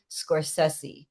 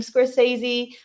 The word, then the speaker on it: Scorsese: famed movie director Martin Scorsese and I grew up saying Scorsese but it's Scorsese but no matter how